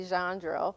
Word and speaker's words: Gendreau: Okay, Gendreau is spelled Gendreau, but the census takers spelt it how it sounded, and the spelling of the name today is Jandreau.